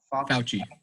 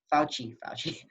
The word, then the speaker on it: Fauci: Anthony how do you pronounce that? Fauci. Fauci.